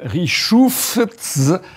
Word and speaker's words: Richoufftz: Alors ça s'écrit 2FTZ. Et donc la première chose que j'ai demandé au général, c'est comment on fait pour prononcer. Donc en fait, il paraît qu'il ne faut pas prononcer le TZ, c'est ça? Parce que le TZ a été rajouté au cours de l'histoire, on ne sait pas pourquoi. Ah mais bon? Initialement, c'était 2F. De voilà. Richouf.